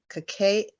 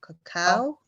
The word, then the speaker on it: cacao: today with some um cacay i say it wrong cacao like a powder what